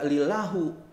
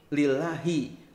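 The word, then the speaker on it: لِلَّهِ: Kan dibacanya enggak lillahu, enggak lillaha, tapi lillahi.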